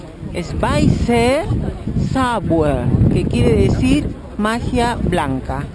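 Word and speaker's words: Weißer Zauber: Entonces, la B doble obviamente se pronuncia como si fuera una B chica. La EI es AI. Y la otra B, que parece una B grande, es una EZ.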